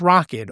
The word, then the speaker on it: Rokid: And it sounds like I'm saying rocket like a spaceship, but it's rocket. R O K I D.